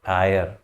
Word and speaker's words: heir: इसमें H silent है, एच का उच्चारण नहीं करेंगे, आयर ये बोलेंगे, उत्तराधिकारी।